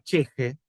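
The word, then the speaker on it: ch'ixi: término una categoría que en aimara se se se pronuncia cheje y que se define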